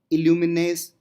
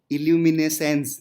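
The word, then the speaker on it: luminescence: Dark, ठीक है, chemo इल्यूमिनेस, इल्यूमिनेसेंस, ठीक है, कैमी इल्यूमिनेंस, नहीं यार, इल्यूमिनेसेंस, ठीक है, तो सही से इसका प्रोनाउंसिएशन कर लेना।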